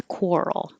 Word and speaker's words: quarrel: he started a quarrel coral is a weird looking word but it sounds like a k-w-o-r core so you have to make your lips very small from the beginning core quarrel and this has the role combination like world so moving from the